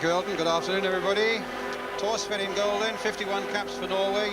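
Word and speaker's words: Thorstvedt: Tors in golden, 51 caps for Norway. You don't pronounce the H in his name, incidentally, taking over, as Elton says, from Bobby Mills.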